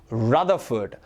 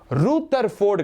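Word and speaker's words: Rutherford: அதையும் போய் பாருங்கள் ஸோ his name is pronounced as Ernest ரதர்ஃபோர்ட் ரூத்தர்ஃபோர்ட் கிடையாது ரதர்ஃபோர்ட் இப்போ LUTHER அப்படின்ற பேரை லூத்தர்னு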